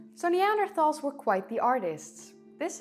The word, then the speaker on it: Neanderthals: the truth about neanderthals or neander talls or whatever you want to pronounce it I prefer neanderthals because it's easier for me but whatever the truth